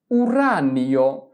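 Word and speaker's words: uranio: ইউরেনিয়ামকে Italian ভাষায় বলা হয় উরানীয় উরানীয় উরানীয়। তাহলে আমরা কি বসাব? নি বসাব। দেখ আমরা এখানে কিন্তু দুইটা উচ্চারণ করি নাই।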